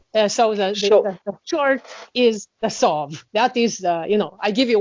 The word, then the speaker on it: SOV: that she's involved in leading, which is the SOV, the stable currency of the Republic of the Marshall Islands.